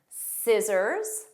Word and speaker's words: scissors: Scissors, muscle, muscle, fascinate. So you just hear that the S sound. The rule here is SC spelling has a silent C, but in pronunciation.